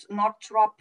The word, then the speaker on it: Northrup: Northrup book. Am I pronouncing correctly?